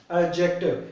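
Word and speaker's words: adjective: एडजेक्टिव, ये D silent होती है, एडजेक्टिव कहते थे, ठीक है।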